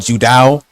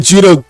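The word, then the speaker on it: Judau: Like Judo's name will be called Judao, because that's basically how his name is spelled, but it's not really how it's, you know, pronounced.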